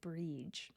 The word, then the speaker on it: Brighid: currently pronounce that still Bridget however you wouldn't be incorrect to pronounce it bre and that's that you know getting rid of a bunch of the letters in the middle of these Irish words these these Celtic words